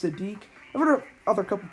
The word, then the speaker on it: Siddiq: was spelled over some acidic but it's actually pronounced Sadiq I'm gonna have a couple people on lines